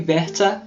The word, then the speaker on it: Werther: nós vamos falar sobre Sofrimentos do Jovem Bessa com a pronúncia do Google Tradutor Ok este livro é